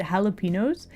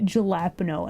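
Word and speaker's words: jalapeños: See, I know I know you're supposed to pronounce it jalapenos, but like I always want to say gelapo, and I know that's wrong, but it's way more funny if I don't like wine.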